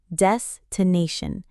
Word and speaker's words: destination: Des-to-nation. Stress on the third syllable.